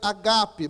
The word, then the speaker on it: agape: A gente pronuncia ágape, só que no grego é agape, mas tudo bem. O acento vai no segundo A, no segundo alfa.